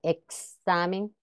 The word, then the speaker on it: examen: al final de palabra representa la secuencia de dos este sonido en examen exhibir o relax se recomienda evitar la pronunciación de esta x como simple s sin embargo en algunos